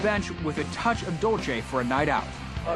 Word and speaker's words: Dolce: Dolce, you said it right.